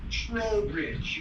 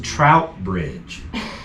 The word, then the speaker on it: Trowbridge: Trowbridge, you had it correct. Gotcha. Oh, I thought it was Trout Bridge. Nope, T-R-O-W.